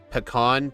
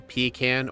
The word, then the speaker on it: pecan: There's three different ways people in the US say this. Do you say pecan, pecan, or peon?